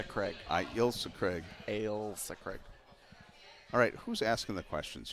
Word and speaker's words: Ailsa Craig: Alisa Craig I got there on my own Elsa Craig no it's Alisa creates III LSA yeah that's what it is but it's pronounced I I yield so Craig I will say Craig I gilsu Craig Ailsa Craig alright who's asking the questions here all right